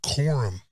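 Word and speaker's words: Corum: their star running back quorum I believe it's Quorum uh forgive me if I say it wrong c-o-r-u-m he was injured last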